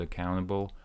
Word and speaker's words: accountable: accountable accountable again so here is how I broke down the word accountable a accountable account accountable you cancel this T there is no T here accountable listen to Jeff